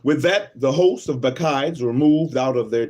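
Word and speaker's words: Bacchides: it's like a a Roman or Greek name bides not hawah Heights let's see b a c c h i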